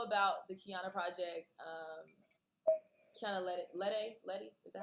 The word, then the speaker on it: Lede: Kiana Letty, is that how am I saying it right? The day, yeah. Lede.